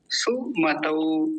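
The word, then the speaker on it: सुमतौ: काम की बात है वो है औ का की मात्रा सुमत सु मतौ गलत उच्चारण क्या होगा सुमत ये गलत उच्चारण है जब एक मात्रा होती केवल तो कहते सु मतो सु मतो लेकिन अभी क्या बोलेंगे सुमत औ औ तौ तौ मतौ सु मतौ ऐसे बोलिए सुमत हो गया ना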